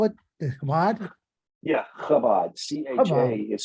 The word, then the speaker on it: Chabad: Shabbat, Chabad, I can't pronounce it.